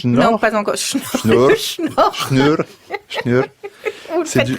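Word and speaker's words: Snjór: Vous n'avez pas la prononciation? Non, pas encore. Schnur.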